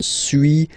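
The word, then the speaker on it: suis: So first one sui as you've been noticing you don't pronounce the final s.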